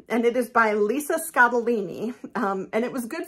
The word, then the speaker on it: Scottoline: known about her books I've called her Lisa scotaline so nice for me to at least know that her name is pronounced scadolini So Lisa scotolini number one